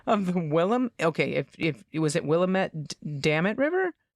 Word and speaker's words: Willamette: Willamette It River. rhymes with damn it. Yep, It rhymes with damn it. Willamette River.